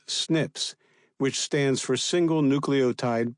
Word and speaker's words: SNPs: Gavllo's DNA test showed he had inherited one copy of each of the two atrial fibrillation SNPs, pronounced SNIPS, which stands for single nucleotide polymorphisms.